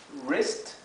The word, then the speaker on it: wrist: La W con la R en inglés siempre se pronuncia como write, que significa escribir. Wrong, que significa incorrecto. Wrong. Y wrist, wrist, que significa muñeca.